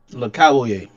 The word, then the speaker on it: Le Cavalier: Le Cavalier. He said it's spelt like that because it says Cavalier at the end. It's Le Cavalier.